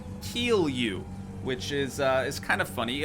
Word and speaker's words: kilju: But it is actually pronounced kilju, which is kind of funny.